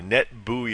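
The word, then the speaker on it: NetBEUI: NE T be UI net buoy is the way that's pronounced just a couple of other references for the session layer things like net bios and net buoy protocols that go back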